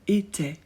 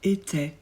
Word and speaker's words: était: I se prononce e on ne prononce pas le T attention avec on on